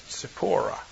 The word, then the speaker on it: Tzipporah: We spell it with a Z, but if we were transliterating more accurately, it would be a TS, Tzipporah.